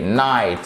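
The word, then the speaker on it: knight: de night le chevalier night on prononce pas le quai d'accord de Night slood dragon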